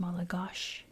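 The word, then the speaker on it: Malagasy: Um I always use the example of in English we say Paris but they actually say pi you know um malagosi is pronounced malagosh Madagascar um the words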